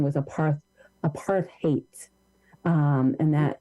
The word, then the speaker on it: apartheid: it should be a part that the correct pronunciation was a part a part of hate um and that and that the root of hate in apartheid um so uh food apartheid is intentional it